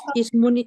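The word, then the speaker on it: اسمٌ: e jelas I itu Ismun kita bacanya Isim apa Ismun ya Eh Ismun eh ISM alismu atau Ismun Ismun ketika dia Nakir Almu ketika dia makrifah maksudnya Isim itu yang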